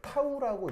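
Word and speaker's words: τ: 이때 얘 어떻게 읽죠? 읽을 때 타우라고 읽으시면 됩니다.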